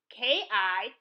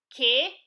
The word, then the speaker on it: K: This Mkpụrụedemede is not pronounced the same way as in the English alphabet, K. It is pronounced as in the letters K-I, K, in the English word kit, as in medical kit. Say it with me. K, K, K, K, as in kit.